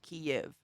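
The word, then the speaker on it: Kyiv: by glut yesterday but it is pronounced kiev that's the ukrainian spelling of the city which is super cool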